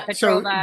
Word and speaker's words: Petrova: Yeah, Petrova, but pronounce it as one consonant, Ksenia.